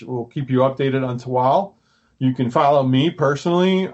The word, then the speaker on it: Tehuatl: the pronunciation right and then I bought the pronunciation right the spelling wrong so okay problem um it's toal uh you can find us on our socials